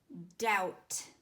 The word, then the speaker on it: doubt: the first word is doubt out knowing there's a silent letter Oh hold on I'll